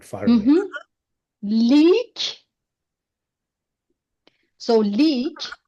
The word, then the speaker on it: لیک: Leak. So leak, le plus long vowel of e plus ke.